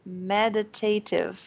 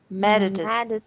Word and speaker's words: meditative: Nossa senhora, meditative. Meditative. Não, tá, continua difícil. Continua difícil falar isso. Meditative. É, só que não é meditative, tá vendo? Porque a sílaba tônica é a primeira.